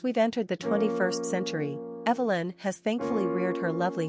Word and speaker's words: Evelyn: as modern Darlings and Evelyn is no exception quick facts on Evelyn gender girl origin English number of syllables three ranking popularity twenty pronunciation Evie Lynn simple meaning a living being